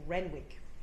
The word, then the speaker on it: Renwick: And most people seeing Renwick would say Renick and No, no, it's Renwick.